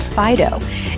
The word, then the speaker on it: Fideaux: And then right one street over is this great little pet boutique called Fido. And it's spelled Fideaux.